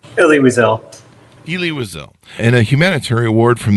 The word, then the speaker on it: Elie Wiesel: Do I have that right on the pronunciation? Elie Wiesel. Elie Wiesel.